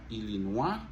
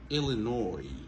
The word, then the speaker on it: Illinois: Illinois. Montez sur première syllabe là. Illinois. Alors, à remarquer, nous voyons comment OIS là, il prononce. C'est pas Illinois, ok? C'est Illinois. Ok? Illinois. S là va prononcer.